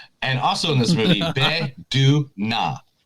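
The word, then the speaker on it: Bae Doona: And also in this movie, Be-Du-Na. That's how you pronounce it.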